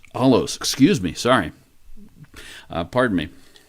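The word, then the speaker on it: ἄλλος: now the greek word translated another here in verse 1 is the word allo allos excuse me sorry pardon me this is the greek word alos a-l-l-o-s as we spell it with our letters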